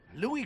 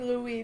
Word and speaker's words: Louis: Also, I should start pronouncing Louis's name Louis because he's French, right? Rather than pronounce it the English way.